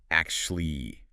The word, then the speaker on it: actually: This one almost always gets reduced in fast speech. How does that reduce? Usually sounds like actually. Maybe actually. Two syllables instead of three.